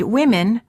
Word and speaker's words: women: Also, in the word women, the O is pronounced as I.